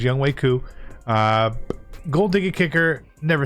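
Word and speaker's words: Younghoe Koo: special teams we got young wei ku that's how you say his name is young waiku uh gold diggity kicker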